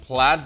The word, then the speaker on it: Plaid: also adding support for what should correctly be pronounced plaid but we don't know if they mean played because it's a way